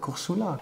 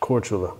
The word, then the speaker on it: Korčula: Oh, Villa Luca, yeah, that's the island of, what is it called, Korsula? Korčula. Oh, Korčula, yeah. I don't know how to pronounce all I'm learning the language and I still don't know how to pronounce okay.